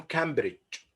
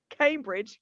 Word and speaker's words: Cambridge: We write it in Arabic Cam with a. So many people pronounce it like this. You would hear it Cambridge, not Cambridge. Cambridge. So Cambridge. Cambridge. this is also a common mistake.